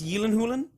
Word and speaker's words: Gyllenhaal: a Swedish accent is the way Jake Gyllenhaal's actual name is pronounced it's Yen holin or something it's like something like that so if you can